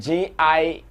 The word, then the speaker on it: Gina: posted a flyer called g-i-n-a you can pronounce it as gina and um when we